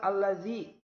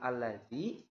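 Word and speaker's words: الَّذِي: Selanjutnya kalimat allazi. Allazi itu termasuk kepada mad asli juga. Mad tabi'i juga sama. Namun bedanya kalau di dalam kalimat Ramadhana do-nya itu menggunakan huruf alif. Sedangkan kalau dalam kalimat alladzi itu menggunakan huruf ya mati atau ya sukun.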